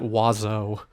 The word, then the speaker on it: oiseau: X or something like that, and you pronounce it oiseau.